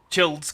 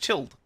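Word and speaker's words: Childe: anyway that's the the child's character why do they call him child he's it should be pronounced chilled I don't know anyway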